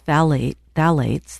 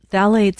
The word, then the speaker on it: phthalates: These are two types of phthalates, that's spelled Phth.